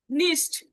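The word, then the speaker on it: nicht: নিস্ট, নিস্ট স্বরমত উচ্চারণ হলো নিস্ট।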